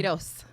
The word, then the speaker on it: Quiroz: Quiroz. Say it again, your last name? Quiroz. Quiroz. It's like a K and an S.